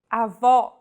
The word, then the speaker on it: avó: Vowels with the acute accent will be stressed and pronounced with open pronunciation. Avó.